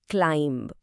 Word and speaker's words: climb: हमारा अगला शब्द है क्लाइंब। अब यहां एक बात ध्यान रखनी है। इसके आखिर में जो बी है ना वो साइलेंट रहता है। तो हम इसे क्लाइंब नहीं क्लाइंब बोलेंगे।